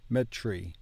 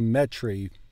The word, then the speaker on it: metri: chento metry metri metree I find when I get TR I want to pronounce it as TR instead of tur instead of the T and the r separately metri metri I would tend to say metry like Tri like tricycle triangle TR instead of tur uh in